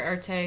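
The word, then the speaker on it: Erté: of his own career art a who's adopted name derived from the French pronunciation of his initials RT o created over 250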